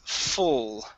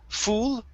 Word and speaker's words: full: full all right here instead of fool fool it's full try that it was full of animals full of animals one more time instead of fall okay it's fu fool or sorry not fool but full full it was full